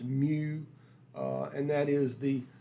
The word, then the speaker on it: mu: uh that's a a Greek symbol it's it's pronounced mu uh and that is the the mean if